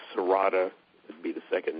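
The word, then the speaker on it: serrata: Um the one that's used for uh mental functions and things like that is um it's called Sarata would be the second name of it. How do you spell that?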